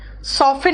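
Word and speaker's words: soften: ठीक है, उसके बाद सॉफ्ट मतलब मुलायम, सॉफ्टन मतलब मुलायम करना, देखो टी का साइलेंट हो रहा है।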